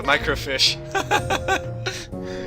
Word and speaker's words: microfiche: Well, the job of a librarian is supposed to be like the microfiche. You're pronouncing it wrong. Microfiche, mate.